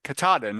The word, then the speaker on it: Katahdin: Georgia to Kadin or k katadin is what I heard it's pronounced but I'm Italian I